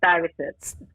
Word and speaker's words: Stuyvesant: I'm not saying it right. Say it for me, Marvina. B. Stuyvestant. That's And it. the name, the name is after the neighborhood I grew up in Brooklyn, Bedford Stuyvesant.